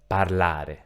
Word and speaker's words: parlare: For the verbs of the first group, the tonic accent in the infinitive mood is always, always, on the -A of the termination; so I pronounce PARLARE.